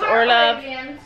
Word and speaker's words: Orlov: Sophie likes Arabians, and Gabby likes Orlov.